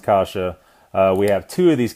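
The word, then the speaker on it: каша: we have the kasha it's spelled kwa it's pronounced kasha we have two of these Casas in here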